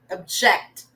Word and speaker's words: object: the same answers object object so the syllable stress on the second one object okay next one